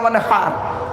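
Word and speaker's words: وانحر: এই গলার ভেতর থেকে এটা উচ্চারণ করবেন, ফাসাল্লি লিরাব্বিকা ওয়ানহার।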